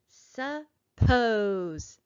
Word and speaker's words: suppose: have in here suppose suppose when i say that word i hear the second syllable is higher louder and longer than the first syllable listen again suppose yes